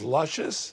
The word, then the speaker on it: Lucious: your middle name is luscious it's lucious but i pronounce it luscious everybody calls me luscious oh need some help